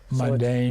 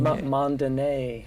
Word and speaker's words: Mondaine: And Don, did you catch the accent on the last letter of his last name? Mondaine. Mondaine.